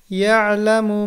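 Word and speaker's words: يَعْلَمُ: এরপর ইয়ালামু মা বাইনা আইদিহিম ওয়া মা খালফাহুম, ইয়ালামু মা বাইনা আইদিহিম ওয়া মা খালফাহুম। বানান করুন, ইয়া আইন জবর ইয়া, লাম জবর লা, মিম পেশ মু, ইয়ালামু, ইয়ালামু, মা বাইনা,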